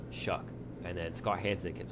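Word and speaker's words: Shough: Just watching some stuff on Red Zone, I think it's Tyler Shaw or something. He honestly didn't Shuck, play bad. Shuck, Tyler Shuck, yeah. please Like fix your pronunciation. Shuck.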